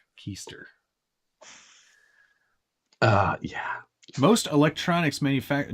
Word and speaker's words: Kester: uh clockwork dg said i believe it's pronounced keister not kester keister uh yeah most electronics